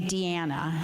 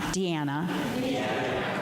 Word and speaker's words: Diana: And we in the for the sake of the song, we pronounce Diana's name Deanna. Deanna.